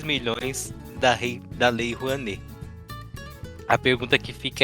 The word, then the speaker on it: Rouanet: Porque até onde eu pesquisei, a Lei Rouanet, ou Lei Rouanet, não sei qual é a pronúncia, já que é uma palavra brasileira, né? Rouanet. É Rouanet mesmo?